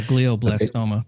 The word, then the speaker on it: glioblastoma: And he ended up getting, I might mispronounce it, but it's like gio or glioblastoma, which is like a rare brain cancer. Oh yeah, glioblastoma.